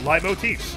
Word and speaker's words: leitmotif: I mean, I think that's the use of, like, leitmotifs. That's how you pronounce that.